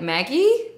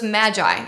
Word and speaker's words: Magi: which by the way I had to Google how you pronounce that because I was like Maggie Maggie I don't know so it's Magi anyway so the Magi